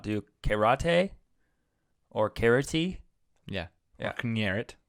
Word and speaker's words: karate: Am I saying it right? Karate. Not rade. Rate. Karate. Right?